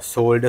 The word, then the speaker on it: solder: Yes, I say solder as to people in who speak British English. Americans say solder. I don't know why that is. I mean, why not just say it the way English says it, but they say solder. We say solder.